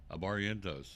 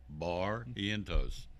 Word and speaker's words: Barrientos: Barrientos. I'm getting it right now, right? Yeah. Yeah. Barrientos. See, I'm doing it phonetically. Barrientos.